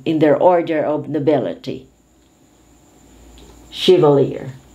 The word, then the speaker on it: chevalier: is one of the undergarments of women chivalr chevalier this is a state of knighthood in the french company this is usually the lowest in the in their order of nobility chevalier chevrolet is a brand of a car chevrolet